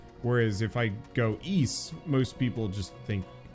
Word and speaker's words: Ys: Pronounce it like geese, but with a Y instead of G. Yeah, I know it's supposed to be East, but if I do YS, everybody knows.